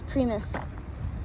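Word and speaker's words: Primos: I got a primis sorry this isn't premise it's prise I learned that that's how you're supposed to pronounce it I got a PR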